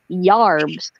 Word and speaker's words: yarbs: first starting the colonies they called herbs or herbs yarbs y a r BS is the pronunciation so some people will